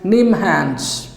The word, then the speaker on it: NIMHANS: mental health and neurosciences it is pronounced as neem hans bengaluru bengaluru say nimhans